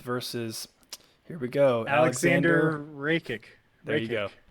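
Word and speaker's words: Rakić: Anthony Smith versus, here we go, Alexander Rakic. There you go. Reiki. Awesome. Always coming through with the pronunciations.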